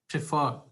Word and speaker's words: prefer: verb is prefer, now there are two syllables in the verb prefer, pre and fer, okay, and where do we have the stress? Stress is not on per sound. We can either have stress on first syllable or the second syllable, okay.